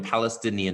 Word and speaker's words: Palestinian: 法 I Stein Palestine，但是实际上变成 Palestinian 的时候，那个字母 I 变成了 is sound Palestinian，OK，而且要注意啊，这个地方 N I A N 每个字母都发音啊，Nian OK Nian Palestinian militants，就是这